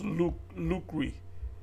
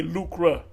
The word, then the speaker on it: lucre: see how you pronounce luk luri people say lucra but it's l u c r e chapter 5 the elders